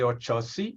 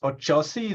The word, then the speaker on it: Oxóssi: I live in Brazil, and the X in Portuguese words has the ch, the ch sound. So Okay. in Portuguese with Brazilian accent, it would be Oxóssi, but I guess the best way to say is Oxóssi.